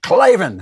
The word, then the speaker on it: Klavan: You got to say Klavan. How do you spell it?